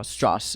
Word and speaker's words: Strauss: wartime efforts and so Strauss is it's pronounced straw Strauss Strauss is Strauss is